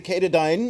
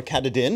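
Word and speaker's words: Katadyn: This is the Kadine or Katadin if you want to say it properly.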